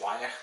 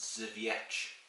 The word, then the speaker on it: Żywiec: bottle and I was like yeah this is wayak looks nice anyways no no no it's pronounced zevich so yeah that's basically yeah so yeah it's